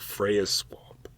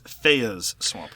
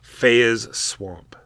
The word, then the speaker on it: Feya's Swamp: So more to come, I'm sure, about Freya's Swamp. It's Feya's Swamp. Feya's Swamp. Yeah, there's no R there, Mark.